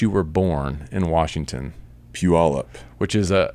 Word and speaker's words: Puyallup: Proper pronunciation for the city in which you were born in Washington. Puyallup.